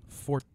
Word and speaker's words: Forza: And back to Forza. Sorry, I keep pronouncing it wrong. Forza. That's true. It's like pizza, but Yeah.